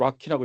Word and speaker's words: RoCE: 거기 네트워크를 로키 V2, ROC V2라고 하는데 기본적으로 락키라고 읽으시면 돼요.